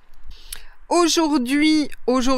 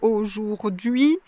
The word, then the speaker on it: aujourd'hui: Très souvent d'ailleurs, on va prononcer un son intermédiaire pour ce mot, entre ou et a.